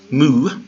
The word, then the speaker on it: mu: and that's lambda then mu has the M sound like in mother so mmm mu mmm and it's a little